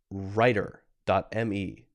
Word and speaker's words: Rytr: Writer.me. This is spelled RYTR.me.